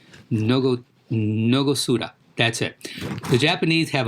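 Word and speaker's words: 納骨堂: While the Japanese have let me pronounce this correctly, Nogosuda.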